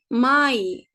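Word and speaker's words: Mai: harflerin kombinasyonuna bakalım Mesela a ve i harfi yan yana gelince arkadaşlar ay diye okunuyor tamam mı Mesela may May Mayıs Mayıs ay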